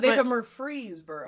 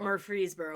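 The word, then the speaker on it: Murfreesboro: Murphy's Burrow Illinois okay how do you say Murphy's bur no it's Murphy's bur cuz also Tennessee has a Murphy's bur too no murfreeboro murfreeboro whatever but also I found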